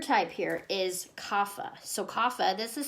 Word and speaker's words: kapha: last type third type here is kava so kapha this is spelled ke a PHA so if I read